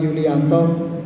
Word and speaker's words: Julijanto: Perkenalkan, nama saya Yulianto, dipanggil Yulianto. Kalau tertulis Julijanto, ejaan lami Pak, produk lama, Julijanto.